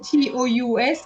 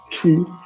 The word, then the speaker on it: tous: Tout. No, it's tous. Tous sont prêts. Okay? So when you have two with two le and something, TOUS is silent, the S is silent. But when you don't have that, it's going to be tous.